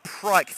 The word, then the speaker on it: Pryke: We had to make sure that Pryke's name was pronounced how it is, because the spelling of it would have, let's just say, made a rude word if it was mispronounced.